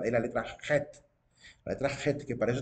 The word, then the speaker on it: Het: de las letras, pero para nosotros es la letra Het, ¿verdad? Ellos lo pronuncian como letra Het en el hebreo. Al menos el rabino ¿cómo se llama? Daniel Kaplan, que fue el que nos dio el curso de hebreo, él pronunciaba la letra Het. No decía Chet, decía Het. Het, para la letra.